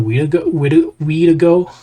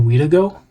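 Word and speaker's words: Wendigo: We've got Shape of the Weedo. Shape of the Wedigo. I have to re pronounce that because I got it wrong.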